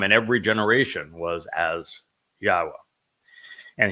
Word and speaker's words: Yahowah: every generation was as yahwah and he even told us how to pronounce his name through the verbal root of his name which is haa meaning to exist and it says of